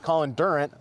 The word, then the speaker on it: Colin Durant: Julie Dowski, who's our assistant planner, and Colin Durant, which I just pronounced his name, I think, correctly. You did it.